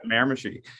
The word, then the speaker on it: Miramichi: So you're as part of where you're from in New Brunswick, you said along the Miramichi River. Is that right? Is that how you pronounce it? River. That's it. Yeah, Miramichi.